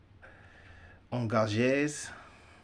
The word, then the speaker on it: engagés: In addition to Negroes, they brought whites, the engages. How I would say that in French, engagés. You know, that's why this book's difficult, because of the pronunciation in French, but the word is engages.